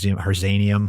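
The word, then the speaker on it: harzianum: I always look for the H one, Herzanium. I don't know how to say it. It's the one you said earlier. Herzianum.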